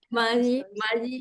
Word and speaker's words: Mayi: este libro Mayi verdad así se pronuncia mayii y las fronteras e